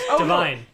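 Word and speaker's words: DeVine: is Adam P no it sounds like LaVine it almost rhymes with LaVine oh you know he's from Workaholics yes yes yes Divine yeah or would you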